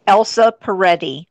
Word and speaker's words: Elsa Peretti: how do you say that name yes it's Elsa Peretti yes so one of the are ett I